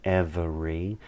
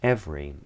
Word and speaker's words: every: And in every, that second E isn't pronounced, it's not every, it's every.